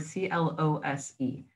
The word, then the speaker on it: close: Now you can pronounce this as something that is close, which is a verb, right? It's an adjective. It describes where something is. It is close to you. Or you can pronounce it as close, which is the opposite of open.